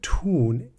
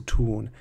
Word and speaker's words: tun: It's got nothing to do with the German word tun, as in tunfisch, which is the word for tuna, but pronounced exactly the same.